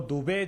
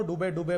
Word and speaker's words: दुबे: शहजाद पूनावाला जी अगर मुस्लिम हैं तो दुबे जो सरनेम होता है ना, वो 2 वेदों के ज्ञाता का होता है। मेरे धर्म का अपमान मत करो डुबे प्रोनाउंस करके, ये अधर्मी पाप मेरे